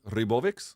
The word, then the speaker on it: Ribovics: and taking on Esteban Ribovics. Yeah. How do you say it? Is that how you say it? Ribovic, I think, is because he's Argentinian. Oh, so it's a ch sound at the end?